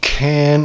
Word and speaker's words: Cann: Can as in canning.